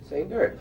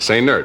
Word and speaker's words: Sainert: Now, why do you say the accent is on the last syllable? He likes it that way. Say nerd. It's like say nurse, only say nerd.